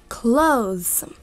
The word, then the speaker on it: clothes: Обратите внимание, что здесь у нас такая продолжительная O. Clothes, да? Mm-hmm. Вот. И здесь как бы еще хочется читать clothes. Как бы дополнительно, да, еще. Mm-hmm. Но так не надо читать. Просто она читается так, как есть.